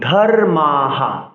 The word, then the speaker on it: ধর্মাঃ: সংস্কৃত শ্লোক উচ্চারণে বিসর্গ যখন 8 অক্ষরের পরে থাকবে, 16 অক্ষরের পরে থাকবে, লাইন শেষে থাকবে, সেক্ষেত্রে বিসর্গের জন্য হ উচ্চারণ করতে হবে।